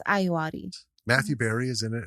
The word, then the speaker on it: Ayoade: I've heard it pronounced several different ways. He says Ayoade.